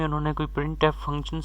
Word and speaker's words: printf: तो प्रिंट F pronounced as प्रिंट एफ।